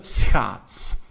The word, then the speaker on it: schaats: All right, a difficult one to pronounce, the SCH, sch, de schaats, the ice skate, right?